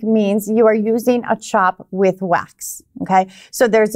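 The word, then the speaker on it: tjap: a fatigue okay so i know you said the word chop but that's spelled weird so somebody was going to look see that in a written material somewhere it would be spelled t-j-a-p or cap c-a-p okay yeah so i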